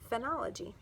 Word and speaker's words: phenology: few weeks is called phenology the word phenology sounds like fun ology which it really is but it's spelled like